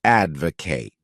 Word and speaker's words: advocate: wonderful verb is to advocate this word has three syllables with the stress on that first syllable a d v o